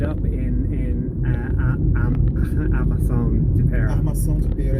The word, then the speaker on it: Armação de Pera: Armação de Pera is the right way to say it.